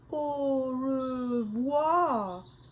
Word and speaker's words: au revoir: You say it like this. Au revoir.